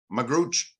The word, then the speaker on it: Magrutsche: your last name is m-a-g-r-u-t-s-c-h-e how did you pronounce that magrooch and I would just say forget my last